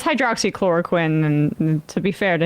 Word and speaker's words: hydroxychloroquine: pronounce it when he said like hydrochloride or something. I mean, it's hydroxychloroquine, and to be fair to him, Sam didn't get it either, so.